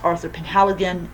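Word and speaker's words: Arthur Penhaligon: It has Arthur Penhaligan. Yes, that actually is how you pronounce his name.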